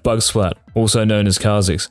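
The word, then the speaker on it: Kha'Zix: flat also known as Kix I've changed up my pronunciation because some of you lowkey flamed me for saying kazik the things I do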